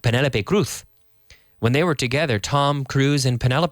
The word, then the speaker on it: Cruz: Cruise and Penelope Cruz, the surname is pronounced the same in English. Tom Cruise, Penelope Cruz. In fact, people thought they were just married and they had the same name, Tom Cruise and Penelope Cruz. But, in Spanish, the pronunciation is very different.